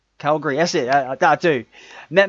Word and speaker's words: Calgary: He comments that met Matt in how do you pronounce that town? Calgay. Yeah. I'm terrible pronouncing. You should have done this, Chuck. I'm terrible today. I'm not reading it. I don't know. Calgary. Calgary, that's it.